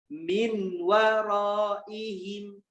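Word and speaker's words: من ورائهم: Min waraihim. Bacanya jadi miwaraihim.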